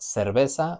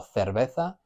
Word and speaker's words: cerveza: With CE, we've got cerveza or cerveza. We've got that E, which is se or the, and then cerveza or cerveza. It's changing that hard C to a soft C.